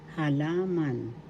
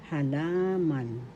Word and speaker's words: halaman: halaman in English plants halaman first syllable ha second syllable la third syllable man the accent is in the second syllable halaman halaman halaman plants in english